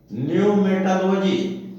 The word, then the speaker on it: pneumatology: इसी प्रकार न्यूमेटोलॉजी, PNEUMATOLOGY, न्यूमेटोलॉजी बोलते हैं आत्मविद्या, यानी आत्मज्ञान संबंधी विषय, अर्थात the doctrine of spiritual essences, जो आत्मज्ञान का तत्व होता है उसका सिद्धांत।